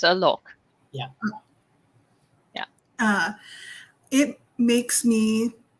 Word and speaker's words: Alok: It's Alok.